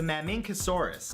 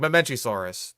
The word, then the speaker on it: Mamenchisaurus: I'm gonna count that as a weird pronunciation. That was just, like, Mamincosaurus? Or... How'd you pronounce it? My nightmares. Number 5 is the Mamincosaurus. Mamincosaurus. Yeah, that's just weird. Like Mamenchisaurus. It's not hard.